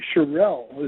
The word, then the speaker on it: Sherelle: So it's actually Sherelle. Is that right, Rick? It is. Just like the old Sherelles of the old day.